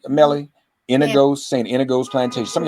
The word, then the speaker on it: St. Inigoes: Am I pronouncing that correct, Melly? Inigoes, St.